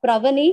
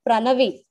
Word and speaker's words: Pranavi: Actually, my name is not Pravani, it is Pranavi.